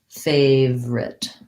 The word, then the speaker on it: favorite: second syllable favorite but because we go so quickly usually when we're saying this word we tend to just say it more like favorite my favorite and this